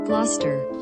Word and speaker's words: Gloucester: clip here let's play it pounds properly gloucester gloucester that's the way you say him oh